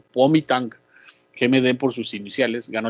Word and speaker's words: Kuomintang: Recuerden que la G se pronuncia como K, y la G al final se deja igual. Entonces el Kuomintang, sí, o GMD, va